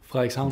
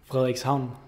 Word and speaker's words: Frederikshavn: Frederikshavn. The name? Frederikshavn.